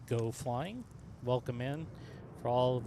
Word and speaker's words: Geaux Flying: channel here in the Seattle area this is pronounced go flying welcome in for all of you who are new to the panel.